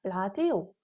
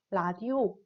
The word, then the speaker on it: 라디오: 세 번째 경우에는 이 니은과 리을이 들어간 단어가 외래어인 경우에는 두음 법칙을 적용하지 않아서 니은과 리을이 있는 그대로 발음하게 됩니다. 자, 라디오, 뉴스의 경우를 보면은 각각 니은과 니은이 가장 앞에 있어요. 그리고 우리가 두음 법칙을 적용할 만한 경우이지만 이 경우에는 우리가 외래어이기 때문에 그 원래 단어 그대로 발음을 해서 라디오, 뉴스라고 리을과 니은 발음을 모두 하게 됩니다.